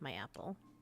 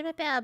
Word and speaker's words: m'appelle: Maybe it's the way she seemed to think m'appelle rhymes with my apple. Sit down, Patty. Yes, Madame Bouvier. Right. Je m'appelle Bao, Madame Bouvier.